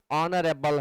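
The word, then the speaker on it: honourable: अब एच से तो आप ए भरेंगे, लेकिन यहाँ पर आप एन भर रहे हैं क्योंकि इसका जो प्रोनाउंसिएशन है वह ऑनरेबल है, यानी आप अ पढ़ रहे हैं, इसलिए एन फील करना होगा.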